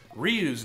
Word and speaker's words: Ryu: Or probably few, you know, like, oh, did you know, in Japanese, Ryu's name is actually pronounced Ryu, and means dragon.